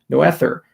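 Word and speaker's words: Noether: cool to uh to say no ether because that's actually phonetically how you spell it uh as the currency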